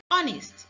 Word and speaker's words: honest: You've also seen that though the H in house is sounded, the one in honest is silent.